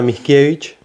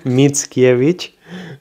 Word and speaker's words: Mickiewicz: Sí, Mickiewicz, ese, Mickiewicz, o no lo pronuncien como yo, que es muy interesante por si quieren leerlos, así se llama.